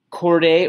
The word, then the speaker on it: chordae: by these chordae tendineae is spelled CH ORD AE cord a or cords tendon a te ndin e AE AE